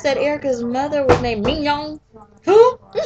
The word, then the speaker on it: Mignon: Oh, did anybody notice that Erica's mother was named Mignon? Who? It's spelled like Erica's mama? it's spelled just like a filet mignon. Mignon?